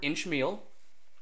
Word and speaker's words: inchmeal: natural to me because the word inchmeal you would emphasize the first syllable inch meal so by inchmeal a